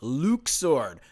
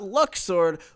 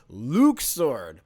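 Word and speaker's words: Luxord: ah there he is this is luke sword not luck sword luke sword because you know you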